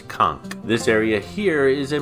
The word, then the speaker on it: Conch: would be pronounced k it's actually a hard k sound it's Kunk this area here is